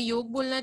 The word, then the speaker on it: योग: okay with spelling इंवॉल्वेस योगा and being Indian best quality वो grade बाहर के लोग कुछ भी बोल सकते हैं हमें योग बोलना चाहिए मैं भी कभी-कभार स्पेलिंग